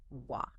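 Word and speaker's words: は: The particle in this specific construction is always pronounced wa.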